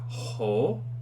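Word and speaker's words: ὁ: and then over here we have a rough breathing mark and this is simply the word ho which means the it is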